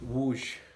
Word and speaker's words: Wrocław: Well, right now, we're in Wrocław, which is how you say that word, that,